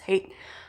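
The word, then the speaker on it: Haidt: religion by jonathan hey i think that's how you pronounce his last name i think it's not height i think it's hate um and i know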